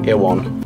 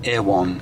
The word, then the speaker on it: Erewhon: We're on our way to Erewhon Sorry, how do you say that with a New Zealand accent? Erwan. Erwan.